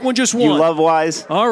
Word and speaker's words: Weis: You love Weis?